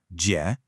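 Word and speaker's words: 姐: Now, this character uses the third tone. And let's be honest, this one can be a real challenge for new learners. Your pitch has to go down and then back up.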